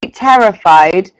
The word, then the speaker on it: terrified: could you just repeat terrified and remember to pronounce the d on the end terrified terrified that's it well